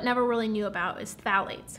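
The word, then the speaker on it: phthalates: really knew about is phalates phalates it's a tricky one to pronounce pH it's found in a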